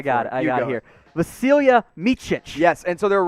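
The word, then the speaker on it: Vasilije: and you've got his pronunciation i got the pronunciation i got it i got here vasilia yes and so there were reports i jokingly called him vaseline earlier when i first saw his name and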